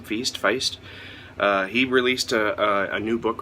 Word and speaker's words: Feist: I'm also looking forward to Raymond E. Feast's, I think that's how you pronounce his last name, Feist.